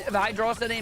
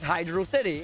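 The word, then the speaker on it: Hydrocity: chat you have the, isn't hydrosity meant to rhyme with velocity and do all that? No, because hydrosity is not a word. It is Hydro City. It is a water of city, or a city of water.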